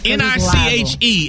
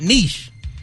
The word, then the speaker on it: niche: N-I-C-H-E is not pronounced niche. It's not niche. It's niche. Niche. Yep. It's niche. It's not niche. So stop trying to sound French.